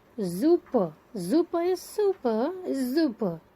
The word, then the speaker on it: super: Super is super is super. S is pronounced as zu, super.